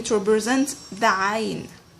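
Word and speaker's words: عين: Okay, because there is no letter in the English language that matches with the pronunciation of ayn.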